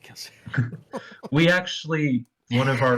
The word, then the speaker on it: Kelsier: And, well, Kelsier did say he would die.